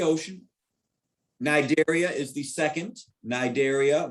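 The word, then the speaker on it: Cnidaria: nigeria is the second nigeria with a silent sea they have those pneumaticists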